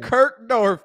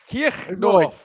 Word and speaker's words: Kirchdorf: You can't say Kirkdorf. Is that how you say it? Kirchdorf. Kirchdorf. Oh, I'm not Bavarian, man. No, you know, it's not. It's the CH that Germans do.